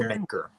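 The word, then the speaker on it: D'yer Mak'er: Jamaica. Yeah. I have no idea how. It's a weird. It's supposed to be a play on words of Jamaica.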